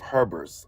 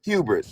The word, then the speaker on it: hubris: Um the like the Bible views it uh views this as a punishment of Herbers. I can't pronounce that word. I might be pronouncing it right or not. Hubris.